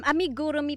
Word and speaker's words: amigurumi: Hindi ko kasi mabigkas ito kasi ba ito yung cruso yung paggawa. Anong tawag talaga dito? Um amigurumi po ang tawag sa pagco-crochet ng dal.